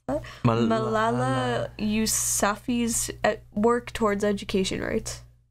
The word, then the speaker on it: Malala: Okay, Just type it, you don't know how to pronounce it. Malala is what it is.